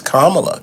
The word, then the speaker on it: Kamala: a name but listen ladies and gentlemen it's Kamala Kamala Kamala Kam uh and we're making that